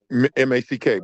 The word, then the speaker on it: Mack: Sorry, how do I pronounce it, Max? MACK, bro, like the truck.